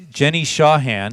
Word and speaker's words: Jenny Shawhan: We are here live at the Wreckingroom with Jenny Shawhan. Did I pronounce that right?